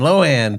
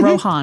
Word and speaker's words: Rohan: So when I read this I said, "Oh, I know how to say this. Rohan." Like Lindsay Lohan. Oh, Lohan. I love it. It's not that way. That's the the rude way to say it. It's Rohan. Well, thank you so much